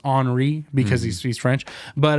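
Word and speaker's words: Henri: end it's his famous painter famous painter uh Henry Matisse actually it's pronounced honoree because he speaks French but uh so Matisse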